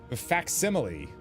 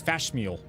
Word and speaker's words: facsimile: That's what I was saying with facsimile. I thought it was fashmeal for some reason.